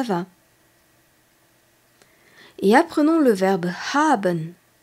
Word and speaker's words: haben: quelqu'un comment ça va et apprenons le verbe haben h A B e n haben c'est le